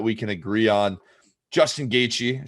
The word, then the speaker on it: Gaethje: Justin Gaethje, said it right that time.